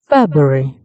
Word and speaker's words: February: The first waveform shows the correct pronunciation, which is February. In Pratt, we can see three clear syllables peak, which shows that all syllables are pronounced. The first syllable, Feb, has the highest intensity and pitch, which shows the main stress.